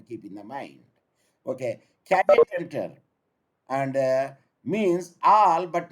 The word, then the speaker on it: caveat: The pronunciation is, it varies, but you say caveat, C-A-V-E-A-T, caveat emptor.